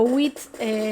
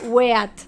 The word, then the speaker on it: wheat: Como ustedes podrán recordar, no, claro, WIT, no W-I-T planeta, era WEAT, o sea, W-H-E-A-T. No, estuviste muy bien, porque yo lo pronuncié como WIT.